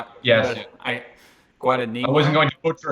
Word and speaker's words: Guadagnino: I've liked Luca Guadagnino. Yes. Guadagnino. I wasn't going to butcher his name there and try and pronounce it, so I'll let you.